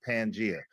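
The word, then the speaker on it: Pangaea: Hey, first first of all, first of all, the crazy thing is is pronounced pangia.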